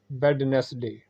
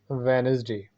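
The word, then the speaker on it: Wednesday: अगला वर्ड है वेडनेसडे, जो कि अक्सर लोग बोलते हैं। सही इसकी प्रोनाउंसिएशन है वेनसडे, वेनसडे।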